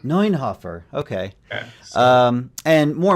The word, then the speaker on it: Neunhoeffer: How is it actually pronounced? It's a Neunhoeffer. Neunhoeffer.